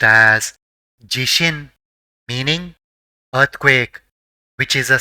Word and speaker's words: 地震: is read as shin and together it is pronounced as jishin meaning earthquake which is a sudden shaking of the ground leading to damage and loss of Life.